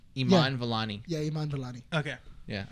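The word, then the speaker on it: Iman Vellani: go like i don't you wanna try and pronounce it uh would be mine velani yeah that's close i think what what is it her name i am a n iman valani yeah iman valani okay yeah if not i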